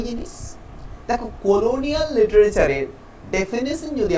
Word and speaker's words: genre: Next পয়েন্টে কি দেখতে পাচ্ছি, নেক্সট পয়েন্টে দেখতে পাচ্ছি জন বা জনরা, GENRE। এটা হচ্ছে একটা ফ্রেঞ্চ শব্দ, এটার বেসিক উচ্চারণ কিন্তু জন, তবে আমরা উচ্চারণও করে থাকি বা জনরা উচ্চারণও করে থাকি।